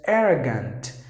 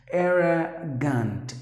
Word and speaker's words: arrogant: Okay, so the next word is arrogant. This is the incorrect pronunciation by some of the people, but you have to pronounce the word as arrogant, arrogant, arrogant. One letter R is silent, so you have to